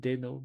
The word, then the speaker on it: Deno: Whereas Dino, even though Dino, even though it's I would like to pronounce it Deno, but yeah, Dino is has